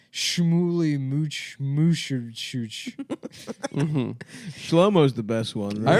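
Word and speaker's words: Shlomo: Schlommo is the best one. I remember the day. I love Schlommo, dude. It's so disgusting. It sounds like you're throwing it. First of all, it rhymes with homo.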